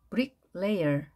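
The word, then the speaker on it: bricklayer: 자 벽돌이 영어로 뭐였죠 브릭 레이어 브릭 레이어 브릭 레이어 이렇게 발행되겠죠 벽돌공 브릭 레이어 a의 강세가 주어지기 때문에 뒤에 있는 ey는 소리가 약하게 발음됩니다 carpenter mox 기억나시나요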